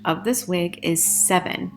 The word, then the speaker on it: Sevyn: Also, please note that the correct pronunciation of this wig is 7, just like the number 7. So I was thinking it was SEVYN.